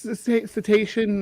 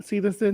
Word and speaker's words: cetacean: Are you sure it's cetacean, not cetacin? Yes. It is cetacean.